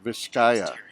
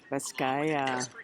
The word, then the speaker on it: Vizcaya: And we know how to say the name now, Vizcaya. Vizcaya.